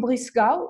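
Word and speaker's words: Breisgau: in Russia actually you lived in Freiburg in blue skull is that how you say it yeah so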